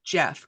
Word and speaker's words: Geoff: And Geoff, I know your name is spelled Geoff, but it's still Yes. pronounced Jeff, correct?